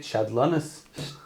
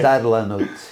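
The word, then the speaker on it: shtadlanut: active, politically active, and how do you say it? Shadlanas? You're close. Well, I'll speak to you off camera. We'll work on it a little bit. We'll work on it together. Okay. Shadlanut. Okay.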